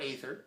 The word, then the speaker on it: aether: is obscuring either and this or aether whatever you want to say you can pronounce it both ways um but in any